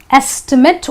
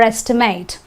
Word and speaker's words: estimate: Okay, the next example and the last example proving this point is estimate or estimate. I estimate that it is going to rain today, right? Because it's a verb, so I say estimate.